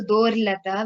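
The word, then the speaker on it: दोर्लता: Again, there is a refa before lata, so dorlata. We have to be careful over there.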